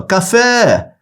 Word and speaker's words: café: você vai chamar por ele aí você fala café venha cá ó essa parte onde há um prolongamento na pronúncia ó café Essa é a sílaba tônica aí se esse